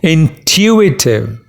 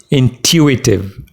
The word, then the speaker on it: intuitive: pronounce this word it's intuitive the stress is on two intuitive in two weeks there are four syllables and you stress in the second one intuitive it means something based